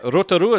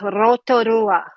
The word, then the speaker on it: Rotorua: And you have to pronounce it in the Maori terminology. The rest of it's Rotorua, not Rotorua. It's Rotorua. I didn't say Rotorua. I said Rotorua. Eh? It's like Taupo.